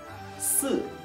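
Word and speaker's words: 四: phải lưu ý là kéo căng môi sang hai bên, đầu lưỡi để mặt sau sang cửa trên, thành 4.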